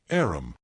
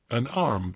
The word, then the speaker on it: arm: He pronounced it Aram. An arm, you goose.